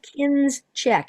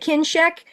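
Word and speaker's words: Kinscheck: yeah kinek uh and it's kin check if you're trying to find it k i n s c he c k kin check yeah so I you pronounce it kin check but just so you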